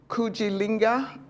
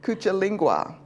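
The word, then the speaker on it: Kujichagulia: the second one is kuil linga I said it wrong already cucha lingua it means self-determination and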